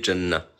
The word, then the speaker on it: Jannah: Alors, la prononciation de Jannah. Ça se dit Jannah.